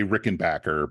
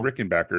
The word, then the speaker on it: Rickenbacker: and backers I know that's not how you say it that's how I say it how do you say most Rick they say Rickenbacker because they don't want it to sound too German wait so I was